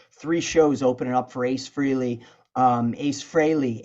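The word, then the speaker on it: Frehley: Tokyo MotorFist did three shows opening up for Ace Freely um Ace Frey Ace Freely I know people say you say his name wrong just disclaimer I've been saying Ace Freely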